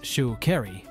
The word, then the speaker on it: Sha'Carri: Unapologetic attitude extends to correcting those who mispronounce her name it's Shu kry uring her identity is